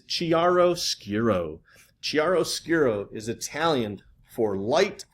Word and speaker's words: chiaroscuro: The proper pronunciation is chiaroscuro.